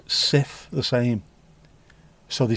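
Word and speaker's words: Cif: Everyone pronounced it differently, but everyone pronounces Sif the same.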